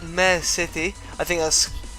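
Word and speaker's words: Miare City: There's also been an announcement of the main city in the game, which is going to be called Mare City.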